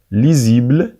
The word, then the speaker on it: lisible: اللغة الفرنسية يجب معرفتها متى يتم تحويل الاس في النطق إلى زد عندما يكون وسط حرفين متحركين الحروف المتحركة قلنا هي A, E, I, O, U, Y وأيضا نجد le H muet الأش الصامت فإذا جاء الاس بين حرفين من هذه الحروف ينطق زد قلنا lisible illisible جميل